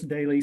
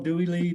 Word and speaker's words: Doelle: It's Daly, spelled Doelle. So that's how you pronounce it? Daly? Yeah. Oh, I had no idea. Thank you for helping me with that. Yeah, everybody calls me Doelle, Dooley, Dolly.